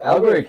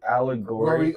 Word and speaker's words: allegory: conspir how do you how do you say that allegory of the cave so a l l